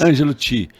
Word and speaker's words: Angelo Chee: Nossa última pergunta aqui, Ângelo Ti. Yes, tá correto Ângelo a pronúncia? Ti, yes. Ângelo Ti, qual o seu sonho grande hoje?